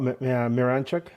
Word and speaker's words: Miranchuk: yeah that's exactly um I'm really curious about miranchuk am I pronounce on it correctly yeah you got ituk